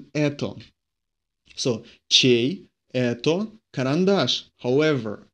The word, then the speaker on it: это: In это, the emphasis falls on so we pronounce this это.